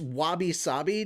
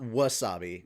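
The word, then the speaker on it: wabi-sabi: pinky by the way it's Wabi saabi not Wasabi we're we're saying it correctly wab saabi yeah that's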